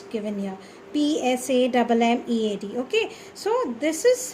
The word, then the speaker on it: Psammead: Psammead. Okay, so this is how you will spell, and the pronunciation should be Psammead, wherein P is silent, right?